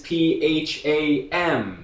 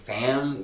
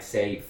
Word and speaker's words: Pham: this particular name Pham we always hear a lot of people trying to do something cute with it like safe okay so that's what I'm talking about if you want to say it right though you gotta say say it one more